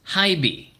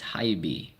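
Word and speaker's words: HiBy: that was a time I knew that it's pronounced hibi. We've been calling it he and so I went to the rep and then oh you want to try hibi?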